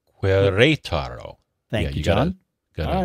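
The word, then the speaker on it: Querétaro: I don't know how to pronounce that. I think that's right. Queretaro.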